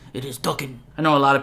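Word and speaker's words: Daken: And yes, it is pronounced Duckan, not Dacan or Dhakan. I actually have a friend who's Japanese and he told me the correct pronunciation. It is Duckan.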